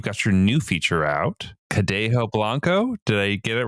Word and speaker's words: Cadejo Blanco: how should how should someone say it correctly cadejo Blanco totally I've heard it butchered all over and uh that's why they